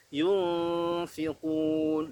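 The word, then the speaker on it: ينفقون: Yunfiqun. Di situ ada huruf nun sukun bertemu dengan huruf fa. Hukum bacanya adalah ikhfa hakiki. Perhatikan fa-nya huruf tipis, maka ikhfa juga harus tipis.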